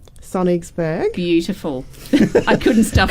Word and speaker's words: Sonnigsburg: We've roped you in to talk about this amazing new show on Channel 31 called Sonnigsburg. Beautiful. I couldn't stop. Correctly pronounced.